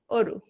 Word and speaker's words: অরু: আমি অরু কিভাবে লিখি, অরু। হ্যাঁ তাহলে এখানে অ এর উচ্চারণটা কিসের মতো হচ্ছে, ও এর মতো হচ্ছে।